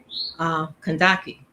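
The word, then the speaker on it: Kandake: I like my spirit, my soul, my divine self is tells me to pronounce Kandaki, And that means a person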